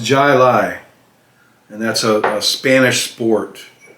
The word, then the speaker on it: Jai Alai: it to yourself to try this beer it's pronounced jai lai and that's a spanish sport in the basque